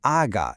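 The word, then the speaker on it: agá: In English, obviously, it's this very breathy sound, but in Brazilian Portuguese, when you're reciting the alphabet, it is pronounced as aga.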